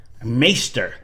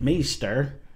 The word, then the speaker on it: Maighstir: open a semi- new bottle of Kentucky owl maester Edition maer that's how you pronounce it I I had to look it